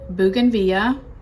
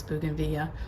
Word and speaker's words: bougainvillea: to pronounce bougainvillea or bougainvillea. It's like tomato. Everybody says it differently, and that's fine. But here in South Florida, maybe it's the Latin influence, we don't pronounce the L's, kind of like tortilla.